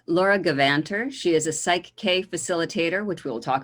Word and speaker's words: PSYCH-K: site k is okay so psych-k and it's spelled for those who don't know it's p s y c h k so psych as in the psyche and it stands for key to the psyche and the reason it's